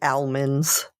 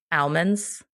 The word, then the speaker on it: almonds: beads we see today did you say almonds almonds almonds almonds whatever you call what I want to call it all right fine I've never heard anybody say l do you pronounce the L in Salmon no but